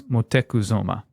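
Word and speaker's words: Motecuhzoma: brought it to motekuzuma so that's montezuma but his they actually the way he pronounced his name was motekuzoma in the black house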